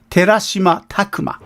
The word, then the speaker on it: Terashima Takuma: OK 特撮じゃなかったね名前が違ったぞ名前の方お願いしますたくまね OK Alright, so I think I mispronounced his names. Terashima Takuma.